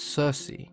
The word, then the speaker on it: Circe: were latinized and anglicized the hard case sound became a soft C and we now refer to her as Circe she was a daughter